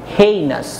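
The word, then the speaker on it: heinous: বলছে ছি, you have done the হেইনাস, এটার উচ্চারণ হচ্ছে হেইনাস।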